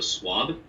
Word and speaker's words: Svab: It's pronounced Svab, but a lot of people, to save them the trouble, they will pronounce it as if there's a W instead of a B, so Swab. It's a Hungarian name.